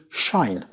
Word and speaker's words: shine: word, you find that the E at the end is silent and not pronounced, and the I is not pronounced I. Otherwise, it's pronounced I, and the SH together as a cluster is pronounced sh, which leads us to a very different new word, shine.